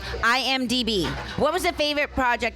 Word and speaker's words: IMDb: Was it INGB? IMDb. IMDb.